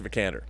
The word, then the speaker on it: Vikander: Oscar Isaac and Alicia benicar how do you pronounce the last name the candor Alicia vikander I love ex machina and it is our